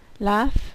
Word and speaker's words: laugh: I hate to cry laughs the pronunciation is como el AF I love to laugh